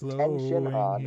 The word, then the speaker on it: Tenshinhan: It's not Goku Tien, is it's Tenshinhan. His blonde hair anyway, started anyway, sorry, Corfan, you didn't get the...